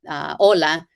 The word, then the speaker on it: hola: example where it says, did you know that that hola, even though it starts with the letter H, is not pronounced in Spanish, right? So the H is always silent in Spanish.